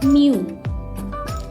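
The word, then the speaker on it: μ: itu punya rumus new dikali n ini dibaca Miu nah Miu itu adalah koefisien koefisien gesek kita tulis cara bacanya Miu gitu aja ya nah koefisien gesek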